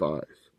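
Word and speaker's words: εἰς: two towards them two it's ice pronounced ice and it means two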